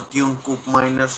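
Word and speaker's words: Teun Koopmeiners: Tomb Coupe minus or Ton Coupe minus however you want to pronounce is on as well.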